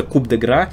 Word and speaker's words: coup de grâce: Но, помимо всего прочего, там особо и вопросов нет, куда ставить ударение. Это «coup de grâce», это три разных слова, которые состоят из одного слога. То есть здесь мы просто ставим ударение туда, куда... в единственное место, в которое можно.